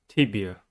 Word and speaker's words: tibia: Tibia has three syllables and the stress is at the first one. The first syllable is tip. T. E. The first sound of E I E Y. B. The second syllable is E. The third sound of E-I-E-Y. The last syllable is a.